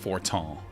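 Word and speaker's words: Fortemps: I think that's pronounced Fortan. It's very French.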